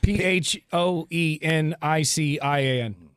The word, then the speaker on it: Phoenician: P H O E N I C I A N. How do you say that? Phoenician. The Phoenician. The Phoenician scheme.